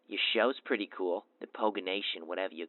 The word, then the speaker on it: Poganation: Is that what it is, Poganation? It kind of sounds like a garnish that you'd put on some pork. No, Poganation is not how you say it. It's Poganation.